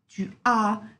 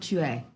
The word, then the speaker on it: tu as: It has to be clearly j'ai and not je. Tu as and not tu es.